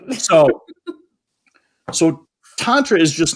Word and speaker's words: Tantra: So we'll just start with the word itself, Tantra. And it's also pronounced Tantra. That's more an American pronunciation. So however you want to pronounce it, there's no right or wrong way.